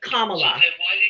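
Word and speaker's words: Kamala: get me the source and her name is commala comma comma comma comma comma comma commala say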